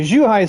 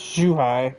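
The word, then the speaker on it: Zhuhai: so to speak xuhai or zai I think it's xuhai cuz it's like wuo so I think that's how Z is pronounced in China um so xuhai then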